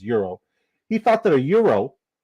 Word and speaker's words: gyro: call it proper terminology proper way to pronounce it as Euro he thought that a